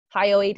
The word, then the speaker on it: hyoid: labeled a on the Left sorry and two hyoid bones on the right hi oh eight is spelled H y o I D now this